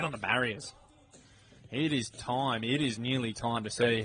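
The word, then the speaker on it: TIMIT: It is spelled T I M I T. Time it.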